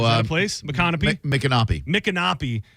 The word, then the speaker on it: Micanopy: McCanopy? Oh, is that a place? Micanopy? Micanopy.